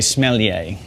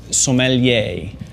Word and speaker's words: sommelier: pronounce it is smelly a because the Master Sommelier is the smelly is one of all but you don't say smelly a the way to say it is sommelier and if you can say the words so